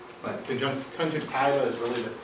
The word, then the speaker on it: conjunctiva: I learned this from was Belgian he always pronounced it conjunctiva but conjunct conjuntiva is really the correct pronunciation as I know